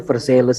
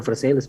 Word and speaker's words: Versailles: raja di Perancis ya Versailles Iya bacanya bukan Versailles BSD gimana sih udah